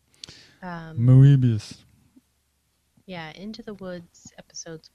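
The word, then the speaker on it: Moebius: comics with momo abias i'll probably should just say Mobius rather than try to pronounce it the way they didn't moobus yeah into the woods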